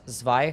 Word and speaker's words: Zwei: I think Zwei is pronounced Zwei because of the German.